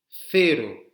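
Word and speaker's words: cero: Fero. Vous avez vu, c'est le moment où la langue sort de la bouche, là, comme le TH anglais, mais fero, comme un Z espagnol.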